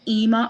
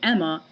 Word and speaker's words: Ema: But the reason I don't pronounce it Emma is because when it has two M's in Emma, the word focuses more